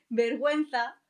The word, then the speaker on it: vergüenza: Hay excepciones en los que la letra U se pronuncia. En esos casos se pone 2 puntos encima de la U y a esto se le llama diéresis y tiene sonido y pronunciación. Vamos a ver ejemplos. Cigüeña, pingüino, vergüenza.